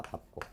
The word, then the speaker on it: 밟고: 밥고. 밥고. 밟은 자음 앞에서 밥으로 발음하니까 밥고 말에 올랐다.